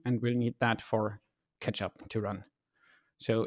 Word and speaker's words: k3sup: we'll need that for catch up to run so it's pronounced ketchup at least that's what they say on the github page and it's just lightweight